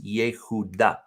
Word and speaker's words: Yehuda: So if we go back to Hebrew, it's Yehuda, Yehuda.